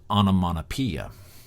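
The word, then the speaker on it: onomatopoeia: to ask you to spell it but it's pronounced onamonapia and in onamonapia uh relates to words that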